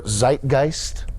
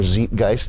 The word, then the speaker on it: Zeitgeist: is a unique product by and for their Zeitgeist or Zeitgeist if you want to go with the moist critical pronunciation Zeitgeist means Spirit of the times um